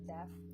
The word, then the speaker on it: def.: what the title meant it's happiness death that's how you pronounce it happiness happiness death it's